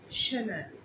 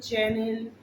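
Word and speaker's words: Chanel: এটা হচ্ছে শ্যানেল। শ্যানেল, এটাকে কেউ চ্যানেল বা চ্যানেল বলবে না, শ্যানেল।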